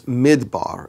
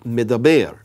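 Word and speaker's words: מדבר: Now, the word wilderness is midbar, and it's spelled Mem Dalet Bet Resh. But what is very interesting about that is those same four letters can be pronounced Midaber.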